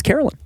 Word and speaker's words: Caroline: It's spelled Caroline, but she says it's Carolyn.